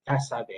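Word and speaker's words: CASVE: Cassave, dia punya sebutan Cassave. Okay, itu dia punya pronunciation untuk acronym: communication, analysis, synthesis, valuing and execution.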